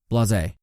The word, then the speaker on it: blasé: Blasé. Pronounced blasé. Adjective.